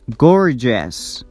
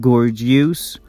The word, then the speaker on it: gorgeous: simultaneous courageous gorgeous and remember that it's pronounced very short with a schwa sound s advantageous gorgeous s gorgeous not gorgeous or advantageous that's wrong the next suffix is